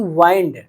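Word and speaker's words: wind: जैसे मैंने कहा कि वाइंड डब्ल्यू आई एन डी इसे कहीं-क वाइंड पढ़ते हैं और कहीं-क विंड पढ़ते हैं।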